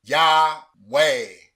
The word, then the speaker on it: Yahweh: Patak, A as in bat. Shiwa is silent, and Sigol, E as in better. Whereas when you pronounce the consonants with these vowels, you get the name Yahweh.